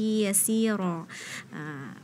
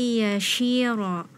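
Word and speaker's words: يسيرا: Fasawfa yuhasabu hisaban yasira. Fakih tadi bacanya hisaban yashira. Nah, ya, jadi huruf sinnya terdengar seperti huruf shin.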